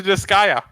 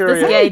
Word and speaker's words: Disgaea: were the precursor to Disgaea. I thought it was pronounced Disgaea the entire time. I've been saying it wrong the entire time. You can say it either way. It doesn't really matter.